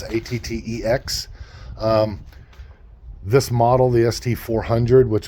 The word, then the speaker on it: ATTEX: This particular one here is an ATTEX or ATTEX, however you pronounce it. It's ATTEX.